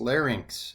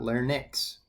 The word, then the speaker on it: larynx: Now, the thyroid is famously located right below your larynx, okay? And also it's pronounced larynx, not larynx.